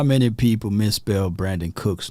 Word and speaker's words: Brandin: Y'all let me know if you know of anybody outside of Brandin Cooks that spelled his name with the I instead of the O. Brandin. Not Brandon, Oh, how many people mispronounce his name?